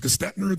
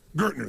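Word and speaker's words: Gerstner: And they brought in I don't know how to pronounce his name. It was Gestetner, the gentleman who came in, who was like the major turnaround guy. What's his name? Gertner, thank you.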